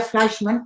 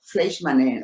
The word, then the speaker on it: Fleischman: En alemán se diría Fleischmann, pero lo pronuncia Fleischmann o Fleischmann en Estados Unidos.